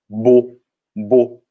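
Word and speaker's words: beau: e então um belo bonito em francês é boo como se fosse um b.o. com acento chapeuzinho sendo circunflexo e os céus aqui como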